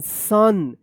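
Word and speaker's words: son: एस ओ एन सन।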